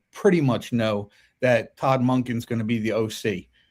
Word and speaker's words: Monken: My only problem is with how do you pronounce his name? Monken? Monken. Right.